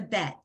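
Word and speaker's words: בית: other letter yet but this is a bet like I bet you you'll know it in a minute b-e-t is how you spell it a b and it's cousin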